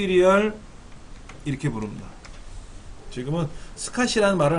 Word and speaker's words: SCSI: 쓰구요 그 스팟이 라이너에 스카시 scsi 이걸 일반적으로 우리는 스카시 라고 읽어 여긴 홀리 주로 스카시